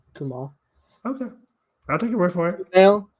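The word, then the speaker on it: Kumail: there it ends with an i but it's pronounced kumal okay I'll take it word from I've heard some people pronounce um I I I've been saying camil um anyways um so sorry yeah I don't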